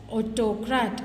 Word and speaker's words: autocrat: Autocracy is people is called as autocrat. Okay, so first syllable you have to stress. Autocrat. Sociology, socialist. Meteorology, meteorologist. Okay, psychologist, psychologist. Okay, you have to stress the first syllable.